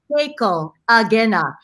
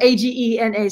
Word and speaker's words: Keiko Agena: So our very good friend Keiko Agena is pronounced Keiko Agena.